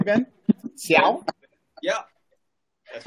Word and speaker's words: Xiao: Am I pronouncing that correctly, Ben? Ben. Xiao?